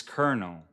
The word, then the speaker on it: colonel: Why is colonel pronounced as kernel?